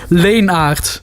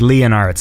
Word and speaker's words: Leenaerts: Leenaerts. Okay, because it looks to me like I would have said like Leonards. That's how I would have said it. Oh, it kind of sounds the same. Leenaerts, yeah.